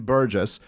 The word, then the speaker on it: Burgis: Because I was saying Burgis for a while. I apologize for that. The G is silent, people. Burgis.